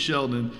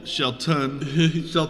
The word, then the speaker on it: Shelton: Kofi winds up winning against Sheldon, and then Shelton. Not young Sheldon.